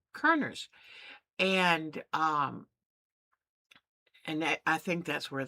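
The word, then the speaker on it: Körner's: Now it's spelled Kor, but it has 2 of the little umlauts over the O, which then turns it into Kerner's.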